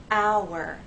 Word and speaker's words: hour: These words have 2 syllables: fire, hour. We have 2 vowel sounds, and there is a gliding, but there isn't a joining to make one vowel sound. The vowel sounds remain separate.